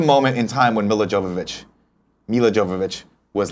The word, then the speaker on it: Jovovich: of you whatever uh mil Jovovich it's Jovovich um at least that's how I've heard it pronounced in the late 90s